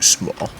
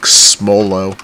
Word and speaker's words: smol: And you can't get any long shots on shipment because it's too small. Fucking sucks. Yeah. Bro, I thought that the SMOL thing for like the longest time was like pronounced like Smolo.